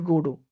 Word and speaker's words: Godot: named Godot okay godo actually godo the pronunciation is godo Godot goo okay so